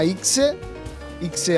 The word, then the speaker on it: Ixe: Si chiama Ixe alla toscana, proprio pronunciato col dialetto toscano, e ha delle doti